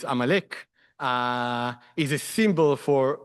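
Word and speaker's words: Amalek: So until these days, Amalecch is I don't know how how you say it in English even, but in in Hebrew it's Amalecch.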